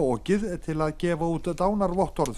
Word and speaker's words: Ok: upp á okið til að gefa út dánarvottorð fyrir jökullin.